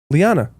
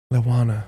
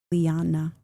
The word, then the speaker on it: Lija: Lana. The J is like a Y. Lyanna.